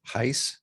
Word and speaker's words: Heise: a special guest um heiss how do you say your last name that's right welcome to the show